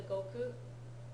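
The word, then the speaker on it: 国: in Kung koku he that pronunciation shift koku to Goku just depends on what sound came before but it either way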